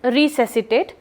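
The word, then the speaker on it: resuscitate: Pronunciation देख लीजिएगा, इट इज़ रिसेसिटेट, और स्पेलिंग ज़रूर देख लीजिएगा, इट इज़ RESUSCI.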